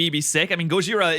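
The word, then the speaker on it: ゴジラ: be sick I mean Gojira is the Japanese pronunciation of Godzilla so I mean it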